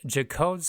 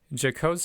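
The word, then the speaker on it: Jaccoud: you would expect no erosions next what is jacob's arthropathy and in case i did not say that correctly it is spelled j-a-c-c-o-u-d decodes arthropathy jacob's arthropathy is a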